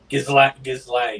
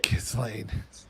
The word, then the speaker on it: Ghislaine: Ghislaine is how you pronounce that, by the way. Ghislaine.